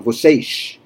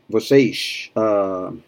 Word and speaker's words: vocês: like Rio, for example, they do the S at the end, like the Azorian Portuguese, the Portuguese from Portugal, vocês. Florianopolis, too, I think, vocês.